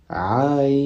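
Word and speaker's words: عين: Ensuite, deuxième lettre, c'est le Ain. Donc, on va prononcer de cette manière. Ain.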